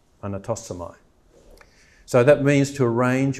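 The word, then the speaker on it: ἀνατάσσομαι: So it's say ar, na, tas, so, mai, anatosomai.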